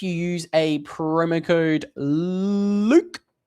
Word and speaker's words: Luke: use a promo code LUKE, L-U-K-E, it rhymes with puke.